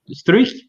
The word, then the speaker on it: Struijk: Struijk.